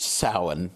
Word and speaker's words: Samhain: a I n so it's not spelled anything like it sounds in English that's because it's a Celtic word so it comes from